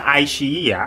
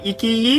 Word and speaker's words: iQiyi: I watched it yesterday using the iQiyi application the right pronounciation is ai-chi-yi! Not ikiyi or i-qi-yi overall this is basically